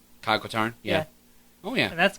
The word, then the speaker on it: Kyle Katarn: How do you pronounce his name? Kyle Katarn?